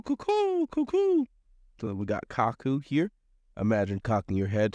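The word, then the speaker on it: 角: It's going to be pronounced kaku here.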